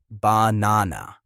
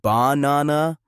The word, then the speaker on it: banana: For example, in the word banana, the middle syllable is the strongest, banana. If you say banana or banana, it sounds wrong.